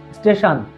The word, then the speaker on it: স্টেশন: এরকম স্টেশন এখানে কিন্তু টি আই ও আছে এই কারণে এখানে তালব্য স হবে আর শপ শপ এস